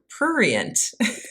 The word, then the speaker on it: prurient: So the first one is I'm going to say this word the wrong way, prurient.